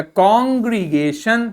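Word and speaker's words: congregation: अब इसको क्या बोलेंगे, आपको पता है TION को क्या प्रोनाउंस करते हैं, TION को हम शन बोलते हैं। तो इसका प्रोनाउंसिएशन क्या हो गया, कॉन्ग्रीगेशन।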